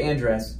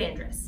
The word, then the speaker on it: Andress: and this is Ingrid Ingrid and dress I'm not saying it right with the right inflections and everything Ingrid Andrus yes so I will be